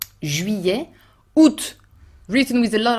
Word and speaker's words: juillet: Et l'été continue en juillet, août, both are complicated to pronounce, juillet with the closed U, the French U, Y sound, and open E. Juillet, août, written with a